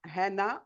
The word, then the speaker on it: Hana: Oui, je suis Anna, Hana en arabe, le H. Il se Anna.